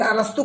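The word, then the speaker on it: Aristotle: लेकिन अरस्तु का स्पेलिंग अलग होता है, एरिस्टोल लिखाता है लेकिन पढ़ते हैं अरस्तु।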